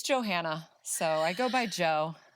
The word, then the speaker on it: Johannah: lot of johanna's Joe Joanna Joanna Joanna stop calling me that um it's just two separate names Joe and Hannah put them together Johanna very simple um another